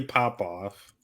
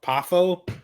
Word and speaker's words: Poffo: And we're gonna go with Larry Popoff. Who? Is that how you pronounce his last name?